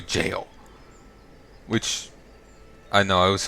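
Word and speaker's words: Gaol: I've seen some that say that it's pronounced literally jail.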